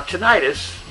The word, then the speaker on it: tinnitus: Anyway, onward to the subject of the title of this video, Living with Tinnitus. Now, tinnitus, or tinnitus, as it is sometimes pronounced, is a fancy name for the thing that a lot of people just call ringing in the ears.